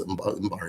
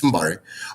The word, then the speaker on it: Mbari: I thought it was Mbari. It's Mbari.